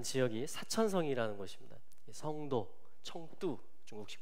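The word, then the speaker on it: 成都: 성도, 청두, 중국식 발음으로는 청두라고 하는데 이 사천성 어디냐면 티벳 서장 자치구 바로 오른쪽이에요.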